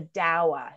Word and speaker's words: dawa: And the cocktail of Kenya is called a dawa, and that is spelled D-A-W-A.